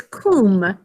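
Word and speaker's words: cum: to my house but it's kum in latin that says an oo sound everyone say kum means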